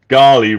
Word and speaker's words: Ghali: It was making me laugh because Boutros Ghali was the General Secretary of the UN. Right. So Ghali rhymes with Charlie, which is what.